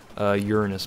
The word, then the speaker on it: Uranus: Uranus, by the way. That's actually how you're supposed to pronounce that planet.